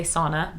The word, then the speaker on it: sauna: in english we say sauna but fun fact that's a finnish word so if you ever say sauna you should say sauna because that's how it's pronounced if i remember correctly